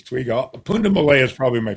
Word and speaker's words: twiga: For you guys listening, the Swahili word for giraffe is twiga. It's spelled Twiga, which reminds me of twig.